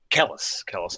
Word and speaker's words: Celis: Kellis, I'm pronouncing it properly.